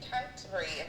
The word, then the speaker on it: Canterbury: We have Emma all the way in, how do you pronounce the name of your town? I am currently in Canterbury. Canterbury.